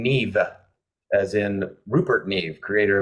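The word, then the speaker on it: Niamh: didn't have to try it's it looks to the American eye that it's Nama bagal but she pronounces her her first name Neeve as in rert NE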